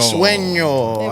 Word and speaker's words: Sueño: Sueño.